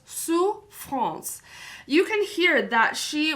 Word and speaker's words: souffrance: The word souffrance has 2 syllables, souffrance.